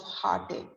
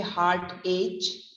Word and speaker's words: heartache: with the pronunciation of heartache a crimes will take and make so the pronunciation is heartaches you don't say heart age since it is achy but it is heart ache ach next next we talk